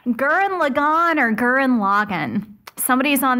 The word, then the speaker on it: Gurren Lagann: I was told that it is Gurren Lagann. So you emphasize the first syllable on each word.